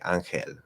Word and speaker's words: ángel: if I say angel, if I say ángel, ángel, just like doing that L, it just like, it makes me feel like a little different.